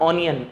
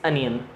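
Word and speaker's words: onion: इट्स नॉट ऑनियन, इट्स अनियन।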